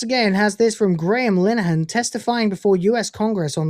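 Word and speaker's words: Linehan: the Great once again has this from Graeme Lahan testifying before US Congress on lack of free speech in the UK. Um, by the way, again, smash my friend. That's how you pronounce it. It's not Linen, it's Lahan.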